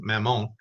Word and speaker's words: Mammon: thought that it was another name Mammon actually pronounced Mamon that it was another name for Beelzebub Saint